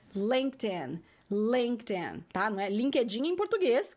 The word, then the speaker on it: LinkedIn: edinho gente linkedin inglês a pronúncia para quem não sabe é lêndea lêndea tá no linkedin em